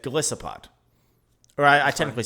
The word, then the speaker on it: Golisopod: It is Glisopod. People, and for a long time, or a couple months at least, myself included, said Glisopod.